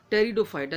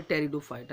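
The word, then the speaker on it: Pteridophyta: में भी आपको बताया लेकिन टी साइलेंट राहत है सॉरी पीस साइलेंट राहत है टी से इसे हम पढ़ने हैं यानी टेरिडोफाइटा लेकिन लिखा पी से जाता है निमोनिया की तरह अब ट्रेड तू फाइट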